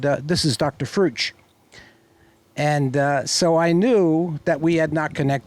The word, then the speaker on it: Frueh: you introduce me remember my name is fru it rhymes with true it rhymes with blue and uh he's yeah